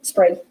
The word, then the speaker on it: Sprague: I always say his name wrong. What is It's it? okay, it's Sprague. Sprague.